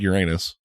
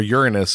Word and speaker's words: Uranus: Ashley said Uranus, or Uranus as it's properly pronounced, but nobody says that.